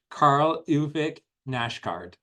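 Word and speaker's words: Karl Ove Knausgård: So my next book is called Spring, and it's by a Scandinavian author who, and I looked up the pronunciation on YouTube, Karl Ove Nashgard, who you may have heard of this author before.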